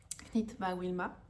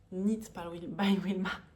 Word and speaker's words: Knit by Wilma: sous le nom de Knit by Wilma. Knit by Wilma. J'ai tendance à prononcer le K à la française, hein, bien évidemment, alors qu'il ne se prononce pas.